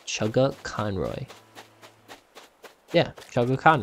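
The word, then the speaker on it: Chuggaaconroy: say that as well by the way is pronounced chugga conroy yeah chugga chan right how would anybody else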